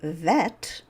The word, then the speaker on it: Vet: Now, when you encounter the same consonants, but there's no dagesh, there's no dot in the letter, then we pronounce it like a V sound, as in vivacious.